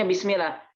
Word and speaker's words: bismillah: Tapi kalau lafzul jalalah sebelumnya kasrah maka dia tipis. Contohnya bismillah.